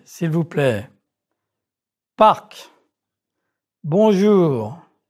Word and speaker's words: parc: However, 4 consonants are often pronounced at the ends of words. Prononcez, s'il vous plaît. Parc.